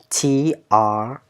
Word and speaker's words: Trang: My name is Trang. T T A Mm, T A N G. mm, mm, mm. Not A. What is this one? Let me pronounce it for you. Trang. TR. You missed the R.